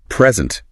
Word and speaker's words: present: Noun often stresses the first. Verb often stresses the second. Like present.